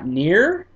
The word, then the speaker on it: NieR: I'm saying this correctly uh near not I want to say it's near I have never heard anyone else pronounce it nier but I don't want